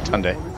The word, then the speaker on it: Hyundai: Hyundai? No, you said it right. Hyundai.